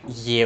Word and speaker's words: Ye: we get stuff like Ye Olde and shopping which is not supposed to be pronounced as a year but more like as a the or there because it's a bit